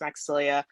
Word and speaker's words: Maxilia: Also, yes, it is pronounced Maxilia. I'm Haitian. And so, yeah, I know the spelling is a bit different, but I'm really excited